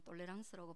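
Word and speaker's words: tolérance: 남자를 가정할 수 있겠어요 권영은 프랑스 식으로는 똘레랑스라고 발음합니다 관대하고 관대하게 포용한다라는 환자의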